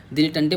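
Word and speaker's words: dilettante: arts science में तो उसको बोलते हैं दिल दिल लेटेंटे दिलटेंटे बोलते हैं एक्चुअल में उसको हम लोग अपना तरीके से पढ़ेंगे तो बोलेंगे दी लेट टंटे दी लेट टंटे दी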